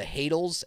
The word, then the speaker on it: Hadal: bad guys called the Hadals, Hadals, like Hadal rhymes with cradle, and then basically it